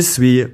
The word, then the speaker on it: suis: As already mentioned, je suis means I am, and the final s in suis is normally silent.